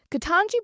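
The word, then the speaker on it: Ketanji: Katanji Brown Jackson, Katanji Brown Jackson, that's how you say her name.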